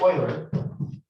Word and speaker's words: Euler: So in 1700, Leonard Euler, and when I say Euler, he actually, his name was, when you see it, it looks like Euler, but it's pronounced Euler.